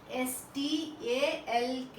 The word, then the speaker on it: stalk: STALK, stalk. L is silent.